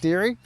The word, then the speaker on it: Deere: And I don't know, it's been Deary my whole life. It's kind of said like Deary, like Dear Diary, but with a Y, you know, like Deary.